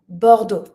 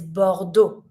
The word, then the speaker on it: Bordeaux: This city is Bordeaux, and you don't pronounce the X.